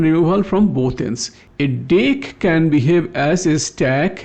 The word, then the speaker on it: deque: It is pronounced as deck. So it allows insertion and removal from both ends. A deck can behave as a stack leo or a Q FIFO.